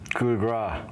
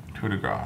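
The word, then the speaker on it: coup de grâce: Coup de grace? How do you say it? Coup de grace. Coup de grace.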